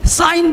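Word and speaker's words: sign: अब इसको जी नेट नहीं पढ़ेंगे, रिजाइन नहीं, साइन, अब यहाँ पे साइन जी नहीं बोलेंगे, अब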